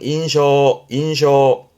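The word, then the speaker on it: 印象: 발음은 인쇼. 그 인상의 인쇼 앞에 첫인상, 우리말로는 첫인상 그럴 때 일본어의 경우는 이렇게 씁니다.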